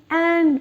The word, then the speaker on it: et: For 21, the French say 20 and 1. Okay, so 31 will be 30 and 1. 41 will be 40 and 1. Okay, and is A. E-T. That's how it's spelled. A. A means and.